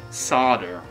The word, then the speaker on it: solder: off a little bit why do americans pronounce solder as sada i know english people aren't entirely exempt from the um the odd grammatical uh misgiving but s soul it right okay it's spell s-o-l-d-e-r why has it been